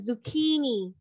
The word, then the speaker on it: zucchini: How you pronounce zucchini. This one? Zucchini. Again, zucchini.